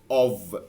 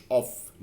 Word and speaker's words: of: دي بتتنطق of مش off. no، دي بتتنطق of لان off هي دي. دي كده اللي بتنطق off، دي كده off، لكن دي بتتنطق بالفي. دي of لكن off دي اللي off في النطق.